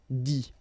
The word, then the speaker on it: dit: Okay, remember, you put this T, you don't pronounce it. Écrit, dit.